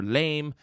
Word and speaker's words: Lame: Thelma Shunmaker for Oenheimer Jennifer Lame. I really hope I didn't mispronounce that, but there's no Exante Goo over the E, so I'm just going to say lame.